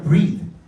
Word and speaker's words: breathe: 그 발음도 달라요. 얘는 breath, 얘는 숨. 얘는 숨을 쉬다.